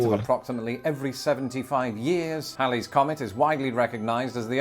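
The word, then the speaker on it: Halley's Comet: so did Lawrence Olivier Hal's Comet which is pronounced Hal's Comet and not Haley's Comet had been recorded numerous times since 240 BC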